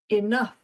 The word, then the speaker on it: enough: O U U G H can also be pronounced off like the off in stuff. Enough.